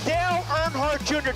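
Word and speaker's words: Dale Earnhardt Jr.: Dale Nhard Jr. Did I pronounce that right?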